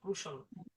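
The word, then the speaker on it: crucial: এরপরে আছে ক্রুশিয়াল হ্যাঁ ক্রুশিয়াল না কিন্তু হ্যাঁ ক্রুশাল এরপরে আছে হচ্ছে অবলি আমরা বাঙালিরা বলি অবলিগেটরি উচ্চারণ হচ্ছে অবলিগেটরি ইত্যাদি এই যে শব্দগুলো দেখতেছেন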